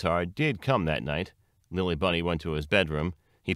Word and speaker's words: Lilli-Bunny: on the threshold stood Lily Bunny's neuroses will you excuse me Monsieur lily bunny it said very politely intelligently putting an emphasis on the last syllable of Lily Bunny's name in the French style however it had difficulty